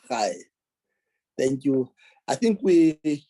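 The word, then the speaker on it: Ray: Also, Mr. Rai is Mr. Hai. Mr. Hai is spelled R-A-Y, but it's pronounced as Mr. Hai.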